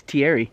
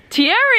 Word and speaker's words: Thierry: bad times so theory I'm not actually sure how to say this name this is a voice I know that name because it's a famous soccer player its Thierry Thierry yeah Thierry re-play first